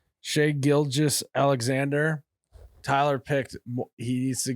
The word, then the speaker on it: Shai Gilgeous-Alexander: Shai Gilgeous-Alexander. Shai Gilgeous-Alexander.